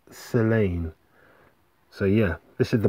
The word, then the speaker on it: Tse'lane: s e apostrophe l-a-n-e so i think it's silent t selane so yeah that's the